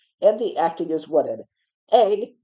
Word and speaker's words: Aang: Aang, not Ong like it's pronounced in this movie, goes through no character development by the end of the movie.